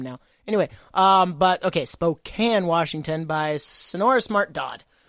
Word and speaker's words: Spokane: That's Spokane. It's not pronounced Spokane.